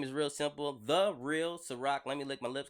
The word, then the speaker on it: SyRok: The Real SyRok. Let me lick my lips because it feels crusty. Okay, The Real, SyRok. SyRok is how you spell my name. You pronounce it SyRok, like the vodka, but I'm older.